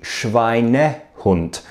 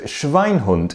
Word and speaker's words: Schweinehund: The word is actually Schweinehund with an extra syllable. Oops. You see, I got confused because you often see the word Schweinhund in English language books and movies about the Second World War.